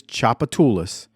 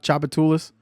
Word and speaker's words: Tchoupitoulas: The irony behind what he just said that the street is Tchoupitoulas.